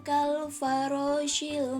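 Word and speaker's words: كالفراش: ada ya Oma yakununnasu kalfarosil Mabel fools disitu ada kalfaro kalfarosil nah disitu roknya berharokat fathah berartinya dibaca tebal Oke kita lanjut ya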